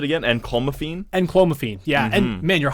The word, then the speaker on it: clomiphene: that's very interesting and yeah how do you pronounce it again and calm afine and clomiphene yeah and man you're a hundred percent right